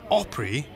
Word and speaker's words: Opry: for 80 plus years the word opry is country music's way of pronouncing opera how quaint but this